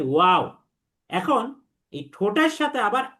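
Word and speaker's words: و: আর 2টা ঠোঁট যদি গোল করি তখন এই উচ্চারণ হয় ওয়াও।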